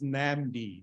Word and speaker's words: NAMD: an MD for okay it's pronounced as namdi not another name suggestion